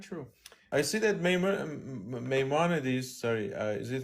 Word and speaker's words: Maimonides: They want to quote Maimonides.